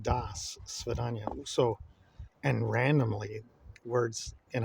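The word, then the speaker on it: До свидания: So, like, for example, Das Vidanya it's spelled out in the Cyrillic alphabet with a D-O, but it's pronounced Das Svidanya.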